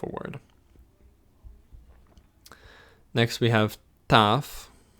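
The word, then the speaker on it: ταυ: word next we have tough again tough and this looks like a t it's pronounced like a team nice and easy epsilon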